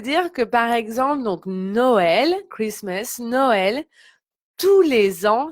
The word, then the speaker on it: Noël: Donc pour Noël, hein, vous voyez, il y a le tréma. Donc c'est pour ça qu'on prononce de manière séparée les deux voyelles. Hein, Noël.